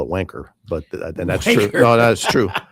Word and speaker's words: Vanke: The the the the locals the the the the locals call it wanker, but then that's true.